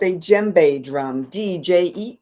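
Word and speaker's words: djembe: This is called a jbe drum. Dj m. You don't pronounce the d.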